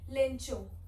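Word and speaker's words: Lencho: लेंचो। ठीक है, कुछ लोग लेंको बोलते हैं, कुछ लोग लेंचो बोलते हैं, जो बोलना है बोल लो, स्पेलिंग सही होनी चाहिए।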